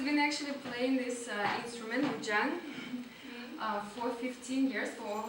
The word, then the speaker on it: Guzheng: It's called Guzheng. You did a great pronunciation.